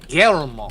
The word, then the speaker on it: Guillermo: Guillermo. Yeah, you got to roll that R.